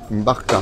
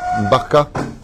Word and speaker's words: Mbarka: Comment tu dis ce mot-là? Mbarka. Mbarka. Mbarka. Ah, Mbarka. D'accord.